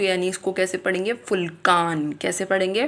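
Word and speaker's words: Vulkan: लेकिन इसकी प्रोनाउंसिएशन जो होती है वो फ होती है। फ तो यानी इसको कैसे पढ़ेंगे? फुलकान। कैसे पढ़ेंगे? फुलकान।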